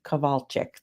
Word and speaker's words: Kowalcyzk: We are here today again with a live interview with Kowalcyk.